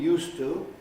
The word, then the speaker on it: used to: and what happened there you regularly change the s the z of the verb used because in all other